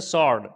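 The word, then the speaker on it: sword: इसी तरीके से सॉर्ड, डब्लू के बाद एस के बाद डब्लू आया है तो यहाँ पर भी डब्लू क्या है, साइलेंट हो जाएगा।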